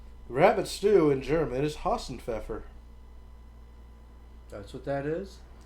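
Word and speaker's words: Hasenpfeffer: Rabbit stew in German is Hassenpfeffer. That's what that is? Hausenpfeffer. Pfeffer. The P is silent.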